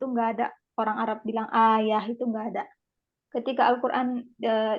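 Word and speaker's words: آية: nah seperti itu dan kemudian kata ayat a ya bacanya itu kan kalau kamar buta mati itu kan jadi ayah bukan Ayah bapak saya bukan Ayah yang berbeda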